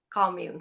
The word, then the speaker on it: commune: Commune, not commune, commune.